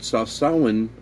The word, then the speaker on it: Sawsawan: And then my semi-silent partner in crime, Eileen, had suggested one time to put Sawsawan, gotta remember to pronounce that first W, to put that on the fish and rice.